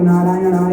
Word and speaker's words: नारायणाय: नम नारायणाय नारायणा नारायणा आप नारायणाय को नारायणाय बोल रहे हैं कुछ लोग नारायणाय नहीं